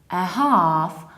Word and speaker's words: half: we pronounce it like 1/2 or 1/2 so you prolong our and you don't pronounce middle let the L is silent so we say 1/2 1/2 or 1/2